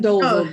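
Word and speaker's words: Dozle: If they named him Dozel, that is funny. It's spelled D-O-Z-L-E, Dozel.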